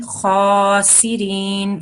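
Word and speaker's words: خاسئين: So this is one of those hard letters, kha, thick sounds. So we don't want to have a smiley face and say kha, we want to have a round mouth when we are saying kha.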